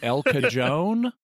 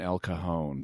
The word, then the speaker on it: El Cajon: San Diego area, and it's La Jolla and El Cajon. It's like, no, La Jolla and El Cajon.